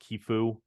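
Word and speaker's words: Qifu: lending them themselves uh qfin which is I believe pronounced kefu uh and then FV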